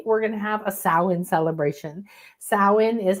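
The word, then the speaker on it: Samhain: So, on Friday, we're going to have a sin celebration. Sin is how you pronounce that.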